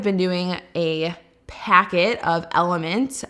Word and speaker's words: LMNT: doing a packet of element lmnt is how it's spelled every single day at